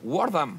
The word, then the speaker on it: Wortham: Y hasta pronunciaste bien mi apellido. Wardham. Sí, Wardham. Ya, yeah, Wardham. La mitad del mundo hispano no puede. No sé qué pasa. Wardham. TH, Wardham.